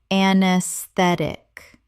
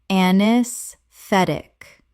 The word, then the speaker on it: anesthetic: Anesthetic. Correct pronunciation. Anesthetic. The AE at the start is silent, and the stress falls on the third syllable.